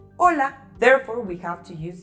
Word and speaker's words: hola: And those words starting with an H and A, they have the same pronunciation of A, because H doesn't make a sound in Spanish, just like the word hola.